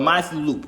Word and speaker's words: Matthew Loop: He's one of the, why did I say Loop like that? Matthew Loop. Loop. Why I sound like I'm saying loop wrong? Loop. Fruit Loops. Fruit Loops. Loop. Matthew Loop. I'm saying it right, yeah.